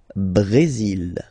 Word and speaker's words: Brésil: Le Brésil. Okay, you will pronounce the final L here. And then remember, accent aigu goes like E.